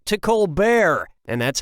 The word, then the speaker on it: Colbert: Steven colar of the colar report changed the pronunciation of his name from Colbert to kbear and that's how he became rich and famous